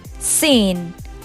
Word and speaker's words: scene: So let's get over through the next letter, which is silent in certain words, and it's C. This word is seen. Seen. Like it's a gorgeous scene. So it's seen.